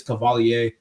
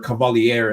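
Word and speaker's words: Cavaliere: That is Cavalier, or Cavalier, as some people like to pronounce it. But I like to think the French are people sometimes, so I pronounce it that way.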